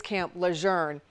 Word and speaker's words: Camp Lejeune: My father is a retired Marine who for years tried to tell me the correct pronunciation is Camp Learn.